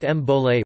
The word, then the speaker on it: Bole: It was replaced in 2012 with the new Bowl, pronounced Mbole war cry.